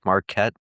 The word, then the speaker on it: Marquet: You know, David Marqu, it's it's spelled like Marquette, but it's pronounced Marquet and you can find his stuff on there.